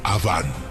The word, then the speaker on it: Awan: El nombre de la esposa de Caín era Awan, A-W-A-N. En hebreo, Aven. Se pronuncia Aván.